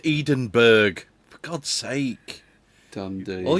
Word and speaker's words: Edinburgh: Ah, it's like uh Edinburgh, I think. Oh, come on. It's pronounced Edenberg.